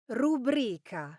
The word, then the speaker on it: rubrica: Do you say ra? Rubrica. Or is it pronounced rubric? Rubric. The correct pronunciation is rubric. Now the stress falls on the second syllable rubric and the reason goes back to its Latin roots.